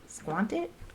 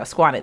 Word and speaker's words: Squanit: Squantit? Granny Squanit. There we go. Squanit. That's how you say it.